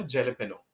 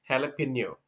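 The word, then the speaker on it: jalapeño: फॉर the first time मैंने इसको बोला था जेलेपेनो। जेलेपेनो सुनने में ठीक ही लगता है, स्पेशली स्पेलिंग को अगर देख लें तो। लेकिन अगर इस पूरे वर्ड के ओरिजिन को देखेंगे ना तो इसका एक्चुअल प्रोनाउंसिएशन होता है हैलापेनियो, हैलापेनियो, हैलापेनियो। ये ब्रिटिश और अमेरिकन दोनों में सेम है।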